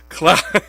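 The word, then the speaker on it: Claude Giroux: all these press conferences i feel like i've been saying it wrong it's cloud cloud because the guy who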